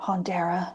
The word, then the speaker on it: Haunteire: I am on TikTok and Instagram mainly at Haunteire, so it's Haunteire or Haunteira if you want to say it properly.